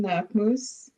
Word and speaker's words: Knakmoose: And please state your name again so that I can have it and not mispronounce it. My name is Knakmoose. Nakmoose.